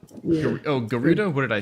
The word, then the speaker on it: Gerudo: way you pronounce Flash Gerudo fruit. Yeah, I think it's a hard G. Yeah. Oh, Gerudo?